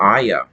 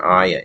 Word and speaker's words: ayah: So ayah, I think I'm pronouncing that right. I think that's how they pronounced it in the movie of The Secret Garden.